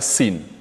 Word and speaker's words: sin: Sin, la lettre sin se prononce exactement comme une province du Sénégal. Sin, Sin Saloum. Sin.